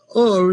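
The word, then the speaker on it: אור: on top of the letter alf and re if you put a dot up there it it's pronounced or just like the word light or clarity and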